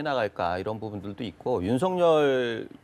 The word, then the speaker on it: 윤석열: 갑시다 윤석열 이라고 표현했는데 본인은 윤석렬 이라고 불러달라고 그러니까 옛날 우리가 hot 나왔을 때 닿아 상당히 당했어 예 어른들은 하시라고 우리 아이들은 hat 라고 그러는데 본인들이 뿔로 달라고 하는 대로 불러주는 게 정상적인 발음 이라네요 오유 명사 의 ix 는